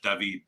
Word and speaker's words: Daveed: after them yes yes David like the French pronunciation but my mom's from Cuba so it's the Spanish pronunciation as well and then it's like